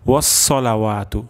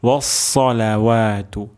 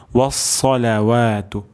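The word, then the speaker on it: والصلوات: ওয়াস, এখানে খুব কেয়ারফুলি সদ উচ্চারণ করতে হবে। আমাদের এমন হয়ে যেতে পারে ওয়াসসালাওয়াতু, যদি ওয়াস হয় তাহলে এখানে সিন উচ্চারণ হয়ে যাচ্ছে। তো আমাদের এখানে সদ উচ্চারণ করতে হবে ওয়াসসালাওয়াতু, ওয়াসসালাওয়াতু, আত্তাহিয়াতু লিল্লাহি ওয়াসসালাওয়াতু ওয়াত-তাইয়্যিবাত।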